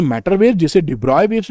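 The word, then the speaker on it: de Broglie: जो वेवलेंथ होती है देखिए डि ब्रॉकली लिखा हुआ है और पढ़ना क्या है डिब्रॉय बी आरओ वाई पढ़ना है देखिए अरे यार नाम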